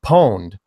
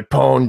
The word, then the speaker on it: pwned: n d and so people just kept pronouncing it pwned and it became one of those internet Elite type things things so it's like oh yeah I pawned you pwned you yeah even though it